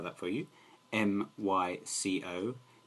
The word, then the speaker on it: mycoplasma: had a condition called mycoplasm i'll spell that for you m-y-c-o-p-l-a-s-m-a that's microplasma sorry it is mycoplasma not mycoplasm and basically what happened